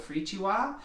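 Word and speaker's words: firikiwa: It's an instrument from Ghana called a Frichiwa. That's not how you would guess that it's spelled.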